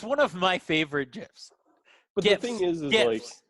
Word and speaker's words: GIF: It's one of my favorite GIFs. But GIFs, the thing is GIFs, like GIF, hard G.